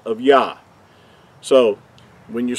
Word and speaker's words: Yah: from right to left the first two letters are pronounced as ja in the english letters we would use the y-a-h which will give us what these two letters would sound like now we know that